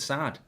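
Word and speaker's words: Saad: Apparently you pronounce it Sad.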